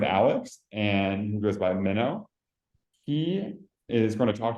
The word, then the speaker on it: Minno: and just to make sure it's pronounced minow or yeah okay minow okay yeah minnow minnow awesome I'm going to do the intro